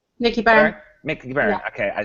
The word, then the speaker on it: Byrne: How do you pronounce his name? Is that Nicky correct? Byrne. Nicky Byrne? Byrne. Nicky Byrne.